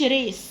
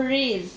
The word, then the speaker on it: raise: حرف الاس هنا بننطقه زد، ما بقولش ريس، بقول ريز. ريز. ريز your hand.